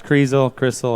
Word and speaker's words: Crissell: not mistaken, Coach Bill Crissell. Did I pronounce that right? Yeah, most people say that, but it's Crissell.